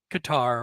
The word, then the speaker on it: Qatar: It's covering races in Australia and Qatar or cutter however you would like to pronounce it.